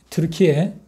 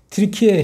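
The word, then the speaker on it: 튀르키예: 어 사도 요한에 의해서 사도 요한이 어디서 어느 섬에서음 반모섬 반모섬은 어 지금의 터키 트르키에 어 터키 사람들 보고 터키라 하면 기본 나빠한다고 트리키에 해 주면 이제 그게 원래 발음이니까 좋다네 트리케하고 그리스하고 그 사이에 애계해라는 그 바다가 있는데 지중에 한쪽 기퉁의 바다입니다.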